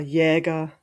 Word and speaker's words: Jäger: Or Jäger was changed to Yager with a W to keep the pronunciation and to drop the umlaut.